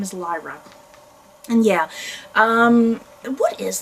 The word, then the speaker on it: Lyra: getting her name out but her name is Lyra and yeah um what is this whole trilogy